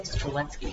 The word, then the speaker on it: Strzelecki: I am Strzelecki. I should say Strzelecki, because that's the proper way to pronounce it, I hear.